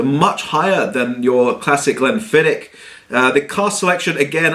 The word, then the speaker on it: Glenfiddich: how you like uh I was told Glen fidic is not the right way it's Glen fidic um and it's also